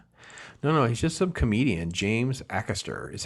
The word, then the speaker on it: Acaster: James Acaster is how you say his name. Acaster.